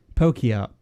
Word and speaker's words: Pokey Art: So that is Pokey Art. That's how we're pronouncing it, yeah? Is that what we're agreeing on?